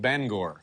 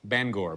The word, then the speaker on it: Bangor: town is actually pronounced Bangor. Bangor, B-A-N-G-O-R. There you get your ban and your gore.